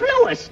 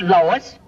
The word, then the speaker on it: Louis: the plant Lois Lois me name is Lewis not Lois J W everybody in topat me name wrong it's LS l o u i s Lois uh Louise Lucy